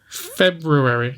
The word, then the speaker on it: February: Just pronounce the letter. Just make a conscious choice to say February. February. Or be lazy like the majority of the world and just say February. Don't bother pronouncing the or because it's inconvenient to our mouths.